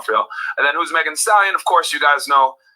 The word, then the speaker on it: Megan Thee Stallion: Now, born 1995, known as Megan Thee Stallion, pronounced Megan Thee Stallion, is an American rapper originally from Houston, Texas.